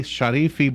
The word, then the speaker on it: Sharifi: Sharifi Brown is on the phone. Am I saying your name?